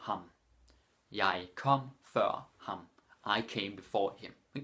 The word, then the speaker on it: før: Or, jeg kom før ham. Jeg kom før ham. I came before him. Exactly the same as in English. Før. It's very important that you don't pronounce it as for.